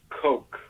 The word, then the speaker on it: Koch: It's pronounced Coke.